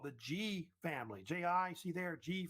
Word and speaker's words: Ji: And it was founded by this family called the Ji family.